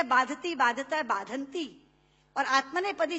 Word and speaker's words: बाधते: कष्ट नहीं दे रहा जितना आपके मुंह से बोला हुआ बाधति शब्द कष्ट दे रहा है क्योंकि बाधते शब्द का अशुद्ध उच्चारण आपने किया है यह शब्द बाधते होना चाहिए भारत न बाधती राजन